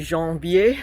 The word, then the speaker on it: Janvier: So if you're in the area and you see Janvier, it's kind of pronounced like the month January, but yeah, definitely worth